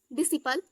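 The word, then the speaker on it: disciple: गया नेक्स्ट है आपका डिसिपल यानी ऋषिपाल दी आई एस दिस एस के बाद सी आया तो यहां पे साइलेंट है दिस एस आई से सी पी ल आई बिल भी बोलते हैं नेक्स्ट मसल्स मसल्स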